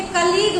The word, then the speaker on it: colleague: अब देखिए कलीग में जो अंत में UE है वो साइलेंट है, जी तक ही तो आप प्रोनाउंस कर रहे हैं, तो जी तक ही उच्चारण कर रहे हैं, लेकिन UE साइलेंट है, वही ध्यान रखना है, ठीक है।